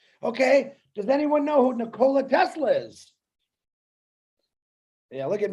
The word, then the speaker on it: Nikola: You're talking about Nikolai Tesla. No, it's Nikola, actually, if you pronounce it correctly.